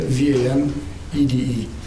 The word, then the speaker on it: Van Ede: Last name Van Ede, V-A-N-E-D-E. Is Van Ede Yeah, the correct pronunciation, sir?